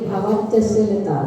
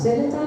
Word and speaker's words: भवत्यशीलता: और उसमें सर्पोहार लता भवत्यशीलता, सब लोग इसका उच्चारण करते हैं भवत्यशीलता, इसका उच्चारण करके भवत्यशीलता, शीलता नहीं है, भवत्यशीलता है इसका उच्चारण।